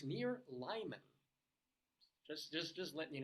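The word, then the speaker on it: Limon: of those ones where it was a Spanish word it should be pronounced leemon but coloradans who say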